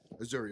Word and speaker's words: Azuri: So one of the reasons why we started with the Azuri is, I first off, it was everything I could do to it. By the way, am I pronouncing that correctly, Ray? Azori.